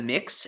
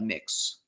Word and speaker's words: Mx: I think it's pronounced mix, so it'd be like mix downy.